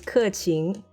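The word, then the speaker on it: 刻晴: You want pronunciation guide? Yes. The first one is 客情.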